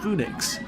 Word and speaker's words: Fønix: Danish for Phoenix and I heard most Danes in the park pronounce it as Phoenix there's already several coasters